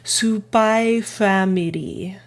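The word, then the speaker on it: SPY×FAMILY: It says Spy Family. So you don't pronounce the X.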